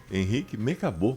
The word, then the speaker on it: Henrique Mecabô: Nosso entrevistado, Henrique Mecabô. Bom dia. Está por correta pronúncia?